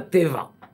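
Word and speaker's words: תבה: Attention, ça s'écrit Tav, Yud, Bet, He. Pas Teva. Teva, certains croient que c'est Teva. Teva, c'est avec Aïn, ça c'est la nature.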